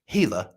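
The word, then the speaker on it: Gila: that was discovered in hila it's pronounced hila hila monster Venom right and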